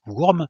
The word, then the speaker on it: Wurm: Ça s'appelle Wurm, ça s'écrit WU-RM, dans lequel on joue lors de